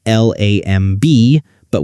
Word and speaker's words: lamb: Like the B at the end of lamb. We write l a m but we say lamb.